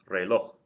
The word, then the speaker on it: reloj: Next we have reloj. Reloj means clock. The stress is on the last syllable. It ends in something other than a vowel N or S.